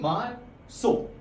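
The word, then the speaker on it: marzo: but Spanish में उसकी प्रोसेसिएशन हो जाती है मार्क सो जेड जो होता है वो थोड़ा एस की तरह प्रोनाउंस होता है तो मार्क सो ठीक है अब बात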